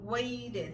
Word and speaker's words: waited: Y aquí waited. La T suena como una R.